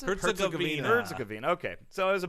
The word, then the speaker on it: Herzegovina: How do you pronounce it? Herzegovina.